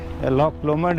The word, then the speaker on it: Loch Lomond: उसको प्रोनाउंस भी थोड़ा स्कॉटिश सा, वो गैलिक एक्सेंट में बोलना पड़ता है, लॉक लोमो या इस तरह इसका मतलब डिफरेंट प्रोनाउंसिएशन है। हम तो इंग्लिश में इसको प्रोनाउंस कर रहे हैं जैसे लॉच लोमंड या लॉक लोमंड इस तरह, और लोग क्नोइंग वगैरह कर रहे हैं।